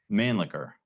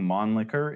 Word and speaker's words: Mannlicher: As you pointed out before we started this discussion, Mannlicher gets mispronounced a lot. Yep. It's been heavily anglicized, right? Because it looks just like man liquor, right?